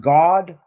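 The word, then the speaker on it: Gad: How it's pronounced God?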